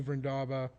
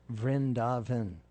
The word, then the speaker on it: Vrindavan: know what about new verndaba or you say it correctly there's an n on the end vrindaven rin javin yeah okay